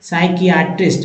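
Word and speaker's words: psychiatrist: spelling किस letter से start होगा या बताइए स्पेलिंग बताइए तो एक खेल हो जाता है साइकाइट्रिक सा साइकेट्रिस्ट है ना साइकेट्रिस्ट तो यहां देखिए साइटिस में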